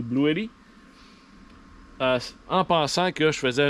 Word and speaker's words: Bluetti: Donc, après plusieurs recherches, je suis allé avec la marque Blue Yeti, si on le prononce en français, mais c'est Blue Yeti, en pensant que je faisais une excellente affaire, les reviews étaient bonnes et ainsi de suite.